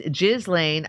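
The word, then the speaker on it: Ghislaine: Pronounce Gelain. It's Jizlane.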